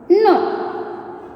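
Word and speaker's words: know: Fourth one, no. Yes, no. Which is silent letter, children? Yes, K is the silent letter. That's why we need to underline the letter K.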